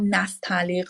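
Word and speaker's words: Nastaliq: and the forms they used so it's called nastal I'm going to pronounce it one more time can you visually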